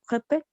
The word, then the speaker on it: répète: Recuerden que cuando vemos el acento grave, la vocal se pronuncia abierta. No, la boca está abierta.